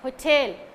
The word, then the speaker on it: hotel: the exception case okay hotel ho should be silent i mean come down and tail should be raised okay her tail okay